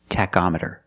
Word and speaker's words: tachometer: With the word tachometer, the CH makes a k sound. K, k, tach, tachometer.